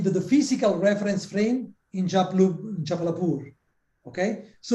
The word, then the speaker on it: Jabalpur: 10 students here in Jalapalapur. I'm pronouncing well the name of the city. It's actually called Jabalpur. Jabalpur.